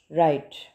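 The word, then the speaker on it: write: लेकिन हम इसमें डब्ल्यू को प्रोनाउंस नहीं कर रहे हैं। डब्ल्यू डब्ल्यू की साउंड हम प्रोनाउंस नहीं कर रहे। राइट। तो डब्ल्यू यहां पे साइलेंट लेटर है।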